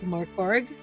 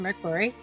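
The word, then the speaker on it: Mörk Borg: which looks like Morkborg, but is actually pronounced Merkborg, which I will be running.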